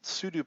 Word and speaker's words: sudo: I know it's voodoo, or sudo rhymes with voodoo, blah.